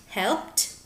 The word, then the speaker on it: helped: So, when you put P and ED together, cuando pones estos sonidos como la P y el ED juntos, the sound is like a T.